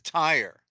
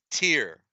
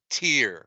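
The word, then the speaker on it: Tyre: is and it's spelled TI they all everybody pronounced it a tire but it's not Tire it is tier let me see if I can get bigger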